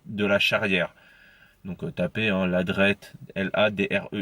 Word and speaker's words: Ladreit: donc marc ladreit de lacharrière donc ôta p1 ladreyt elle a des airs de l'it et de